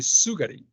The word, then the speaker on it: sugar: word sugary notice that the S here sounds like sugary I don't say sugary or sugar it's sugar sugar okay this is another example of why you should not rely on the alphabet to pronounce words in English because the scr does not have the S sound that you see that you see or here in the alphabet is sugar sugar there's